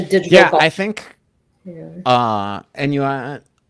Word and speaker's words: ennui: Ennui. How do you pronounce it? Ennui? Is it? It's not quite. It's not Anway.